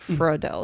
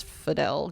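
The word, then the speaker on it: Videl: wrong in the car it's not for adele it's fidel gohan's wife yeah that she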